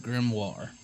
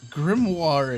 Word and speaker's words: Grimoire: According to this, it is pronounced Grimoire. So, Grimoire it is.